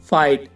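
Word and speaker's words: fight: For example guys, फाइट, माइट और नाइट। इन सब में वर्ड के लास्ट में जी एच टी है तो इसमें जी एच साइलेंट है।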